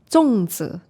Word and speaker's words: 粽子: So sorry, how do you say it in Mandarin? 粽子.